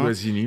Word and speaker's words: Guazzini: Tiens, je voulais un peu boucler, mais il y a une idée on a parlé de Max Guazzini, si je prononce bien. Guazzini, oui.